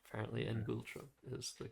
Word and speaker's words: ngultrum: I would pronounce this ngultrum. Okay. So, that's close, but I don't think that's correct. I think the pronunciation is All right, it's ngultrum.